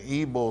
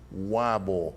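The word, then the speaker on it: Ybor: was in Westhampton in ebo City as many people come here from out of town they thought they should pronounce it as Weibull mm-hmm yeah well those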